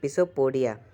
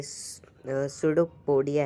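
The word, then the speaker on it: pseudopodia: These are called पिसोपोडिया। ये सुडोपोडिया है। Piece इसका साइलेंट है।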